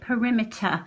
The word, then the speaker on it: perimeter: how do you say perimeter okay so the earth perimeter it's a schwa at the end as well isn't it